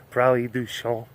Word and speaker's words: Prairie du Chien: You know, the area that I grew up in southwest Wisconsin, small town called Prairie du Chien. I guess the French pronunciation would be Prairie du Chien.